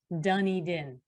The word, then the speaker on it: Dunedin: town of spelled like dunedin is actually said pronounced dunny din and i can't explain that but that's apparently